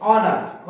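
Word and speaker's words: honour: और यहां पे ह नहीं बोल रहा है, एच का प्रोनाउंसिएशन ह होता है, लेकिन यहां पर मुझे ह नहीं बोल रहा हूं मैं। ऑनेस्ट, ऑनर, और ऑनर, ऑनर, यहां भी स्पेलिंग में एच आ रहा है, इनमें स्पेलिंग में एच आ रहा है, लेकिन एच के बाद क्या आ रहा है, ओ आ रहा है। यहां पर मैं ओ से प्रोनाउंस कर रहा हूं, न कि ह से।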